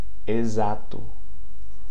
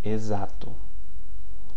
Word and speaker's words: exato: Now, the prefix EX, okay? The prefix EX before a vowel is pronounced as the Z, okay? Exame, exato. Exame, exato.